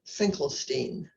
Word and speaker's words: Finkelstein: Michael Finkelstein. And every time I say his name now, I think of Bruce Springsteen, because when I asked him how to pronounce it, he said it rhymes with Bruce Springsteen.